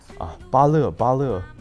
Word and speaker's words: Bale: It's like my English name is like Bale, like B-A-L-E, right? So it's like when you regard it as a Chinese like pinyin name, so it's like B-A and L-E is separated, and someone